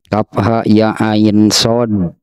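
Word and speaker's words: كهيعص: sampai yang lima huruf Kaf ha ya ain shod Ya seperti itulah pengucapannya gitu ya Kaf ha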